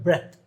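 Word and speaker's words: breath: ആർ ഇഎടിഎച്ച് ബ്രത് ഇതിന് ഇതങ്ങനെയാണ് ബി ആർ ഇഎടിഎച്ച് ആണെങ്കിൽ ഇതിന്റെ ഉച്ചാരണമാണ് ബ്രത്ത് അതല്ല ലാസ്റ്റ് ഇ വരുയാണെങ്കിലോ ബി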